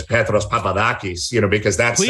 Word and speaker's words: Petros Papadakis: like peter peterson yeah and you're not supposed to say it like i say it but i don't want to sound like this overly pretentious and introduce myself as petros papadakis you know because that's